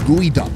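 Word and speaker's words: geoduck: for one big reason first off it's pronounced gooey duck can you guess why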